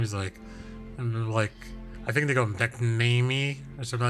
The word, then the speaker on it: McNamee: So the correct pronunciation is McNamee. McNamee.